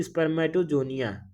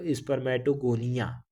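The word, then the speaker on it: spermatogonia: कई लोग बोलते हैं स्पर्मेटोगोनिया, कई लोग बोलते हैं स्पर्मेटोजोनिया। तो इस तरीके से आप प्रोनाउंसिएट कुछ भी करिए, स्पेलिंग सेम होना चाहिए, ठीक।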